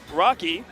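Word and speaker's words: Rocke: So yeah, and of course Rocky, who trolled me with the spelling of that name. I definitely called Rocky Rook earlier. Oh, whoa. Because it's spelled R-O-C-K-E. Oh man. Like a rock with an E.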